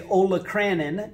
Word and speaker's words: olecranon: depression or divot is called the olecranon fossa some people like to say olacranon and you could say it that way it helps you spell it correct but it's pronounced olecranon fossa okay so one